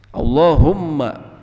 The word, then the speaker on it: Allahumma: Dalam membacanya kita perhatikan ada tasydid di sini, dan tasydid ini banyak orang yang melakukan kesalahan dengan tidak menekannya. Tasydid ini awalnya dari dua huruf, oleh karenanya ketika harus ada tanda tasydid kita harus menekan Allahumma, Allahumma, dan Allahumma ini